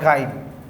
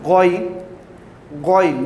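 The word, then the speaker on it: غ: You have to pronounce Ain, and you have to pronounce Goin, not Gain, Goin, from last part of the throat, from here, Goin.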